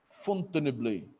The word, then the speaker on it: Fontainebleau: Como é que pronuncia? Fontainebleau.